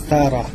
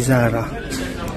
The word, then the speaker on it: Zara: kay dito sa may Tara sabi Tara daw ang pamang pronunciation hindi Zara sabi sa YouTube Tara sapatos para sabi sa